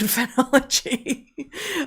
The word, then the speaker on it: phenology: also about seasonality, is phenology. Um not phrenology, but phenology. Um spelled the same way except for that missing R.